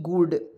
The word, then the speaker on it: good: या जी से ग, डबल ओ से बड़ा ऊ की मात्रा नीचे लगाएंगे, डी से होता है ड, हो जाएगा गुड।